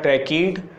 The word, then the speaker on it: tracheid: तो इसमें हम पढ़ेंगे difference between the ट्रैकीड ट्रकीयर्ड्स, difference between ट्रैकीड पढ़ते हैं, इसे क्या पढ़ते हैं ट्रैकीड, इसका प्रोनाउंसिएशन ऐसे लिखा जाता है हिंदी में ट्रैकीड,